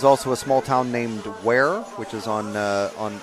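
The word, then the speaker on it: Ware: Um there's also a small town named where which is on uh on on a river W A R E.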